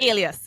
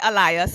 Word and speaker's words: Alias: Is that how you pronounce it? I want to make sure I'm getting it right. Alias. Yes. Yes. Okay, Yes. Yes. Do perfect. not say Elias, please.